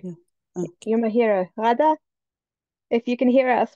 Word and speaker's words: Ghaida: It should be Rada. Rada. Rada. Thank you. Yeah. Okay. You're my hero. Rada, if you can hear us, we'd love to get your introduction.